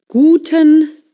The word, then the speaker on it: Guten: Another thing in German, the U is pronounced oo a bit like in boot but shorter.